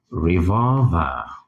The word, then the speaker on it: revolver: can think of um revolver revolver reol with the stress on the second syllable so reol not